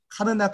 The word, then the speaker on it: 카르나크: 여기도 카르나크라고 되어 있는데 카르낙 신전 이렇게 하셔도 무관합니다.